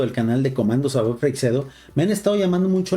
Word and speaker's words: Freixedo: Afortunadamente, gente como Salvador Freixedo, como JJ Benítez, siempre trataron de contener y